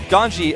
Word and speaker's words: GanZi: You can see him scratch his face there a little bit, but GanZI, and by the way, a lot of people on my Twitter were saying, why do you say GanZI instead of GanZI?